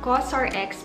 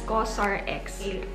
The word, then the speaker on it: COSRX: all in one cream so cos or x pronounced as cosrx let's open it so